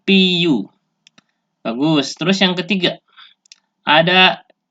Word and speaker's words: CPU: pengucapan bahasa Inggris yaitu C dibaca sih Teh dibaca Pi dan UU dibaca you jadinya Si CPU bagus terus yang ketiga